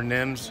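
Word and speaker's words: Nîmes: actually in France and neems France or Nims however you want to pronounce it and I I could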